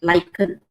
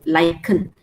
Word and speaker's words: lichen: So you pronounce this word as K, lichen. K sound, lichen.